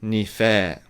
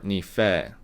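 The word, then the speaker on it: にふぇー: way of saying thanks it's nifed i don't think that's incorrect i think that's also acceptable um some parts of okinawa depending on the region uh probably pronounce it that way but i personally prefer ni-fei so ni-fei again it's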